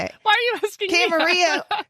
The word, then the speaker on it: Camarillo: why are you asking camarillo because it's got that it's like armadi dillo it's armadillo armadillo in mac spanish armadillo okay so let's go with armadill camarillo camarillo camarillo california oh